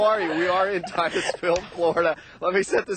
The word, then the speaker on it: Titusville: Titusville. Titusville.